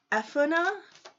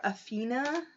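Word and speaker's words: Epona: amazing okay um but epana or apina I believe is how you pronounce her name from the Celtic um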